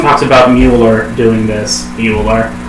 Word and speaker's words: Mueller: Mueller. That is how it's phonetically pronounced.